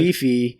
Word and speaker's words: Phi Phi: Okay, and it's pronounced PP. Yeah, I thought it was weird. Phi Phi.